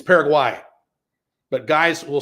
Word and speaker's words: Paraguay: They won't get mad if you call it Qatar, like when you mispronounce, like in Paraguay. I just did it. It's Paraguay.